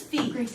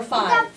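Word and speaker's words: φ: is irrational is irrational this is Fe or five depending on whether you want to how you want to pronounce it no five is another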